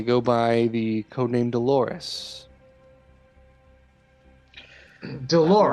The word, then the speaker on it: Dolores: Dolores. Rhymes with a part of the female anatomy, doesn't it?